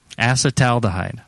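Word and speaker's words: acetaldehyde: something but it's um acet alide okay is the one of the accepted uh pronunciations I'm going to practice that oh so the first one is like ask so oh why didn't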